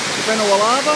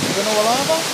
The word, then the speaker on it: Vanua Lava: anyway, here at the waterfalls on the island of Benawalava, if I pronounce that right, Benawalava. Yes. And the district name is Sasara.